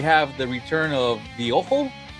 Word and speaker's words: Ojo: But here it looks like we have the return of the Ojo. I don't know if she's Hispanic or not, but that's how we would say it. It's OJO.